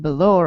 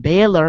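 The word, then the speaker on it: Bálor: should I say Finn Balor like like many people say uh why do you always have to say Balor because it's spelled Balor actually but some people always say it's Bor because you know it has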